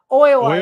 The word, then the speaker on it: Oiwa: Oiwa is how you say it.